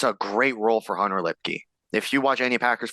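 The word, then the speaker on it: Luepke: Which, by the way, Low Man Award Committee, it's Lipke. Yeah, it's Lipke.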